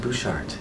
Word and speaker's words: Butchart: r-e-u-b-e-n and Bouchard is spelled Butch art but it's pronounced Bouchard hey you can go